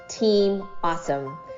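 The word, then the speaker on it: AHSome: to honor and recognize team AHS ome pronounced team awesome because the team is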